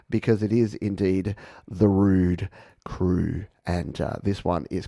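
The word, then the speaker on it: Roux'd: album by Rude yes rude intentions is the name of their new album and rude by the way is spelled r-o-u-x apostrophe D which I think is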